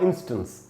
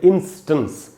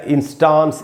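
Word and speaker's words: instance: इसका जो correct pronunciation है वो है इंस्टेंस। इसको इंस्टेंस या इंस्टांस इस प्रकार से नहीं पढ़ेंगे, इसको हम पढ़ेंगे इंस्टेंस।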